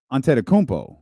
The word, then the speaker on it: Antetokounmpo: There are still basketball people who add the G to us, but they make Giannis or Giannis, but it's Antetokounmpo.